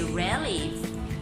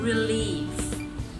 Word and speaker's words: relief: So the stress is found in the second syllable, relief. You don't say relief, it's relief. That's iamb, second syllable.